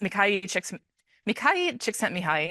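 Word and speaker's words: Mihaly Csikszentmihalyi: There's a lot of stuff about this guy's name is pronounced Mikhail Csikszentmihalyi, and somebody can correct me on that.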